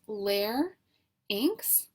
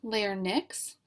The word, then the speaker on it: larynx: is the larynx and it's pronounced Lair inks not layer Nix and this is the